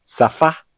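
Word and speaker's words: שפה: En algunas palabras, la letra Shin cambia su sonido y en lugar de sonar como sh, suena como una samek, es decir, como una S común. Veamos algunos ejemplos. En palabras como safá, que significa idioma, sear,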